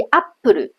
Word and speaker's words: アップル: 节的位置，所以 apple 就有 4 个音节，啊，中间那